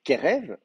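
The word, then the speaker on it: קרב: Euh, euh, c'est un ségolé, Kerev, donc l'accent est sur la première syllabe, comme Meler, Kerev.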